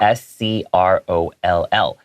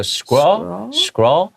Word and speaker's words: scroll: S-C-R-O-L-L. Okay, it's kind of hard to pronounce. You go scroll, scroll, okay? Just make sure you stick your tongue out for the L to get that sound out.